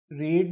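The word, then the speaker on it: read: रेड, spelling same रहती है दोस्तों रीड की, बस बस बोलने का तरीका बदल जाता है, इसकी प्रोनाउंसिएशन बदल जाती है। रीड से रेड हो जाता है फर्स्ट से थर्ड फॉर्म आने में।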